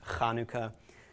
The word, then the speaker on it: Hanukkah: back of your throat you'll hear it in German like the composer Bach okay is properly pronounced that way some Hebrew words Konica also known as Chanukah it's actually pronounced Hanukkah or challah bread okay